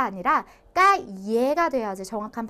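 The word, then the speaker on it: calle: 그래서 얘를 이렇게 엘레가 두 개가 나와 있는 경우에는 얘를 Y로 바꿔서 발음을 해준다고 생각을 하시면 되세요. 그래서 깔레가 아니라 까예가 돼야지 정확한 발음이 된다라는 거고요.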